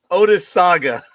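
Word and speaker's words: Otesaga: at and I want to thank you for pronouncing it for me the OA did you say oh it's the ois Saga Odis Saga thank you a stately Lakefront hotel in Cooperstown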